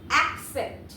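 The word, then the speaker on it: accept: রয়েছে একসেপ্ট করা একসেপ্ট আবারো বলছি উচ্চারণটা মন দিয়ে শোনো একসেপ্ট বোঝা গেল এই একসেপ্টটা অনেকে গুলিয়ে ফেলে এক্সেপ্ট এর সঙ্গে বা এক্সপেক্ট এর সঙ্গে সেই জন্য আমি একটু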